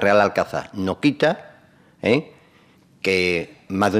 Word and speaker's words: Real Alcázar: hispana árabe y ahora Cuál es su pronunciación correcta real alcanza o reales alcázares real alcázar la pronunciación correcta es real alcanzar no quita que más